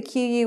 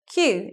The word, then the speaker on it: queue: pronounce so again the qu words taking the case out Q and it's just one syllable Q let's take a look